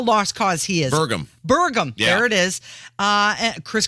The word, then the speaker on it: Burgum: Doug Bergman? Berman? How do we say his name? That's how lost cause he is. Burgum.